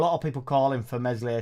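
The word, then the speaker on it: Meslier: the jokes we are talking about mesle silent s his distribution's always been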